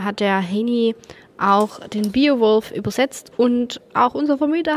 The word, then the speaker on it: Beowulf: Also es ist nicht der Biowolf, sondern Beowulf.